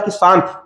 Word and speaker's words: cache: में क्या लिखते हैं, इसको लिखते हैं CACHE, लेकिन उसका उच्चारण कैसा होता है, कैश मेमोरी।